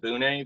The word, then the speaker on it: Bune: First of all, I'm glad you said Bune, because I have always said Bune, but I've heard several people recently call it Boone, and I thought it was from you, so I was going with that pronunciation. But I go with Bune.